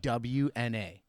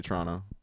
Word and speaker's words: Toronto: I don't say the second T. I say Toronto.